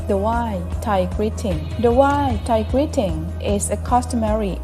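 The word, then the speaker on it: wai: The why Thai greeting is a customary Asian practice that's typical of Buddhist regions. It's pronounced similarly to the word why.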